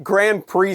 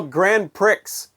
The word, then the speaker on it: Grand Prix: Which, when I was a kid, I used to call Grand Prix. Because that's the way it's spelled.